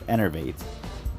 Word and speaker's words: Enervate: It's Enervate.